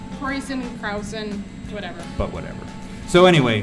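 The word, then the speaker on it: Kräusen: The internet told me that that's pronounced Kreusen. Krausen, whatever.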